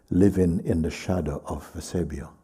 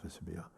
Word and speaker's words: Vesubio: Se llamaba: "Vivir a la sombra del Vesebio". Vesebio es el volcán. ¿Vesubio? ¿Cómo se dice? Vesubio.